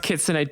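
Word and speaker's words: 狐: I know it's pronounced kitsune.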